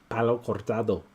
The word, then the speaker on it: Palo Cortado: Palo Cortado like Antonio.